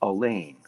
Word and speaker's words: Allain: correct correct correct I believe the pronunciation of your last name is Elaine it is so if